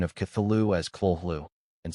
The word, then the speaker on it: Cthulhu: Lovecraft transcribed the pronunciation of Cthulhu as Khlûl-hloo and said, "The first syllable pronounced gutturally and very thickly. The U is about like that in full, and the first syllable is not unlike Khlûl-hloo sound.